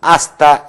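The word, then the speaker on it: hasta: 아스타 마냐나 그런 표현이 있는데 이때 또한 H는 어떤 경우는 발음하지 말도록 합시다. 발음이 안 되고 까, 따, 빠 형태에서 아스타 이렇게 되겠는데 이것은 아스타 마냐나 뭐 내일 만나 그런 표현들은 다음에 이제 조만간 공부하게 되겠죠.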